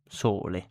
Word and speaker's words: sole: So example of the pronunciation of the vowel O in Italian is sole. So sole sole as in more in English. More so more sole.